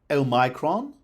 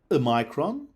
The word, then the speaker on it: omicron: So, the pronunciation that the Oxford English Dictionary lists for Omicron are as follows. Omicron, Omicron, Omicron, Omicron, Omicron, Omicron, Omicron, Omicron, and the last two variants are US specific.